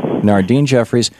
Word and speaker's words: Nardyne Jeffries: Am I pronouncing that right? Yes. Nardyne Jeffries.